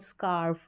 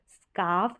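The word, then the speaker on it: scarf: बोल सकते हैं इसको स्कार्फ र का साउंड ना भी आए तो भी बिल्कुल इसका सही उच्चारण रहेगा स्काफ या स्कार्फ फिर आगे देखेंगे ए आर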